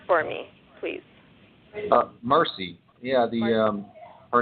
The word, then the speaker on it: Mercie: about your newest book her name is and pronounce the name for me please mercy yeah the her name is mercy the spelling throws the world throws people off